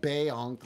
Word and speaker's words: Bonk: Bonk pronounced Bayonk like in The Fifth Elephant.